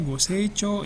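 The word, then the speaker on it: ご清聴: Ini dibacanya goseichou ya.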